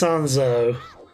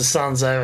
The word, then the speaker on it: Sanzeau: I think it's Sanzeau, which is pretty much just a French for without water.